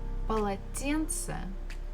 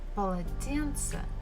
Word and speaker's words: полотенце: And the final one is полотенце, полотенце, a towel. So again, the first two syllables, pa, la, they are not stressed.